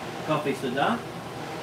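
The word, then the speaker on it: cà phê sữa: If you're interested in making some café soda, that's how you pronounce it.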